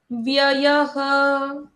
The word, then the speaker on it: व्ययः: व्ययः। व्ययः। दो बारी वो का प्रोनाउंसिएशन है ना? यस, क्योंकि वो आधा अक्षर है, उसका द्वित्व होता है। हाँ। आघात लेते हैं तो डबल साउंड होती है उसकी।